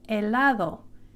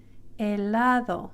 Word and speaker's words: helado: The letter H is silent, so you do not pronounce the letter H. So this word ice cream in Spanish is helado, helado.